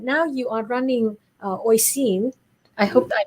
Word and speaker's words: Oisin: i pronounced that correctly oh sheen like a s8 yeah so it it's actually the same spelling as the gaelic version of kathleen so uh that i n is pronounced een uh in north yeah